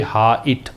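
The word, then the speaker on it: height: यहाँ भी 8 है, लेकिन इसको पढ़ते हैं हाइट, इसको पढ़ते हैं वेट।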